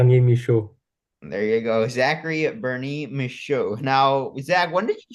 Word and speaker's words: Bernier-Michaud: I know it has some uh F French pronunciation but uh Zachary and then ber Mish there you go Zachary Bernie misho now Zach when did you join us for